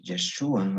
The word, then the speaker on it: Yeshua: En hebreo, Josué se pronuncia Joshua y Jesús Yeshua, o sea, casi tienen la misma raíz.